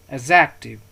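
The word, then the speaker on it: adjective: एडजेक्टिव, एडजेक्टिव। डी यहाँ पे silent की तरह इस्तेमाल होगा, एडजेक्टिव, ठीक है। डी हम डी को प्रोनाउंस नहीं करेंगे इसमें, तो इसको पढ़ेंगे एडजेक्टिव।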